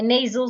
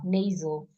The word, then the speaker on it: nasal: m sound m a nasal sound we have three nasal sounds M and these are all nasal sound not NASA nasal n a s a l nasal sound so we have